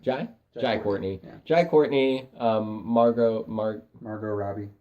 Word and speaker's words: Jai Courtney: Which the big players for that are definitely going to be Jay Courtney, Jack Courtney, Jai. That's how you say his name. Jai Courtney.